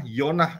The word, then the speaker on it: Yonah: cerita tentang yonah ya yonah itu bacanya dari Yod eh wau Nun dan he yonah ya Ada apa